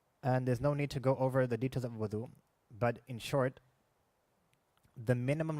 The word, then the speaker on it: wudu: the basic necessities of wudu. And it's pronounced as wudu, not wadu.